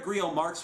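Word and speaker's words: Grillo-Marxuach: have no interest in owning a copy Javier Grille marks watch and yes that is how his last name is actually pronounced has put an official video on YouTube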